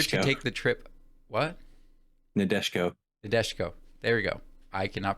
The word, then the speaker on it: Nadeshiko: Nadeshiko. There we go. I cannot pronounce anything once again.